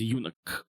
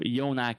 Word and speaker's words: Yonack: reads the word Yonack, they would immediately try to pronounce it as eunuch. Which, if you know what a eunuch is, not a word I want to be associated with. So, Yonack it is.